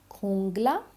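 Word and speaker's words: jungla: जे खोता, इसको भी हमेशा हमेशा ख की आवाज़ आएगी, ठीक है, खूंगला, यहाँ पे मैंने इसकी प्रोनाउंसिएशन दी है खूंगला, खूलियो, खूलियो, खूलियो, खूंगला।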